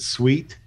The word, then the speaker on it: CEWT: workforce training um and we pronounce it sweet by the way yes even though if you you spell it phonetically it comes out cute but nobody wants to